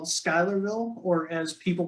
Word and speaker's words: Schuylerville: upstate i've lived in this little town called schuylerville or as people pronounce it schoolerville okay um i've been living in this town